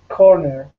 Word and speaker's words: corner: Which is the stressed syllable? Core. The first. Very good. The first syllable. Right. And here's a case where our schwa sound is schwa and then R.